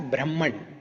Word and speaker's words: Brahman: So this word, we should read it as Brahman.